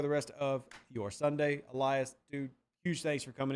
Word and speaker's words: Elias: Nah, because I don't even go by Elias anymore. I go by Elias. Are we pronouncing both L's? Yeah, we pronouncing both L's now.